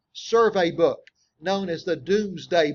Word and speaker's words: Domesday: book known as the Doomsday Book it spelled like domesday and we still have